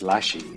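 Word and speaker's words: ラッシー: the Japanese language uh rush and Lassie are actually pronounced very similarly which um it's one of those translation things doesn't make sense until you actually hear it sounded out but Rush is Rashi and Lassie is lashi so it's pretty much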